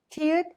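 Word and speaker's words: 티읕: Tiut is a strong T sound.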